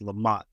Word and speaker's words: La Monte: I'm sorry, it's Lamont, actually. The E is silent.